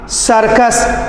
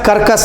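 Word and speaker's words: circus: सर्कस, कर्कस नहीं, kitty नहीं।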